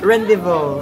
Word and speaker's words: rendezvous: Rendezvous.